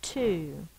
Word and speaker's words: two: just one o now for the number two we have a silent letter it's the W we'll put it with the T because we don't want to put it with the O and have you confused and try to say ow the silent W goes with the T so the word is two I'm not sure why the single o says o but it does so if you want